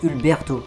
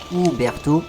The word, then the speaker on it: Uberto: en fait et moi je dis c'est ulberto mais non c'est pas ulberto c'est Uberto Alberti il est un peu